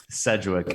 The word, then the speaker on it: Sedgwick: Sedgwick.